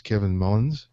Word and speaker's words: Kevin Mullins: And today's guest is Kevin Mullins. Is that did I pronounce that correctly?